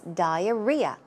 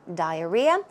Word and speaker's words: diarrhea: just in case uh the uh stress goes right there so it's diarrhea diarrhea a slang for diarrhea